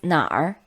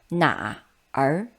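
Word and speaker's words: 哪儿: For example, pinyin of this word, 哪儿 it's 哪儿 instead of reading it separately as in written 哪儿 You simply roll your tongue whilst pronouncing the vowel.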